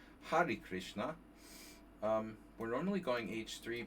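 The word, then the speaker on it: Hare Krishna: So the Har Krishna or Hari Krishna sorry Hari Krishna Har Krishna very American pronunciation Hari Krishna um we're normally going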